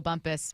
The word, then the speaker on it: Bumpus: Olympic name pronunciations and say Michael Bumpus Michael Bumpus twice with an emphasis on the second how would you offer